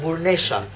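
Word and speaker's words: burrnesha: So it's quite interesting, and we call them burnesha, which even the way how you pronounce it it's with both being harsh and strong, but with also some femininity inside it, you know?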